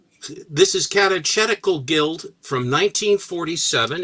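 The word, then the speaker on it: Catechetical: Um, is that how you pronounce it? Yeah. Oh, it's not cat. Katetical. It's tedical. I had no idea. I always mispronounced it.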